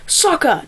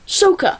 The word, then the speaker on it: Sokka: Okay, just like it is Aang, not Ong, or Sokka, not Soka.